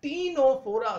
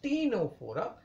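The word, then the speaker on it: Ctenophora: Porifera फिर सिलेंट्र then टीनो फोरा सी silent है स्टूडेंट ने तो सनो बोलोगे आप लोग इट इज टीनो फोरा फिर प्लट हेलमंस फिर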